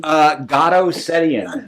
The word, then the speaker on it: Garo Setian: How you pronounce your first name? Garo Setian.